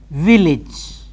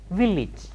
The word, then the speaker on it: village: first and then yes how do we say village this again you should make a mental note